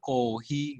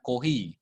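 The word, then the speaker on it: コーヒー: itu misuh-misuh itu air kohi copy ini punya double dibaca agak panjang kohi gitu ya bukan koi tapi dibaca koi kocak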